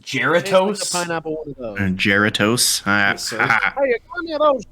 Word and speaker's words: Jarritos: Sí, jarritos. I love those. It's pronounced Geratos.